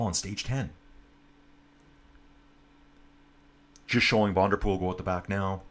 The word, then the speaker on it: Van der Poel: Just showing Van der Poel go at the back now. And I'm really going to rock the Van der Poel from now on. No longer Van der Poel. I was corrected several times.